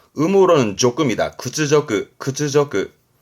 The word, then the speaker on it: 屈辱: 구츠저크, 음으로는 조금이다. 구츠저크, 구츠저크.